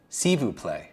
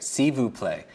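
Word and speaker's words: s'il vous plaît: you merci thank you how do you say please in French sivu play right sivu play for me that sounds like a word substitution for Sibu play would be a silver plate so just attach silver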